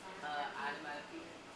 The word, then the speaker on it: onomatopoeia: How do you pronounce the word? Onomatopoeia.